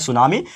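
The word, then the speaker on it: tsunami: अब सुनामी बोलो या टी सुनामी बोलो, ये आप लोग के ऊपर है, बट एक्चुअल में इसका प्रोनाउंसिएशन होता है सुनामी, because it इज a Japanese word. And Japanese word क्यों है?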